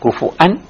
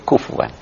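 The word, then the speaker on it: كفوًا: Dibacanya kufuan atau kufuwan.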